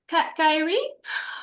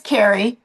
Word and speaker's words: Carrie: Carrie. Kyrie. I'm sorry. Then I'll just butchered your name. Carrie. It's It is Carrie.